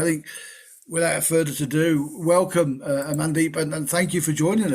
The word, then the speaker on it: Amandeep: I mean, I hope I pronounced your name right. It's Amandeep, but you're not the first person to ask me that, and you definitely won't be the last either, David.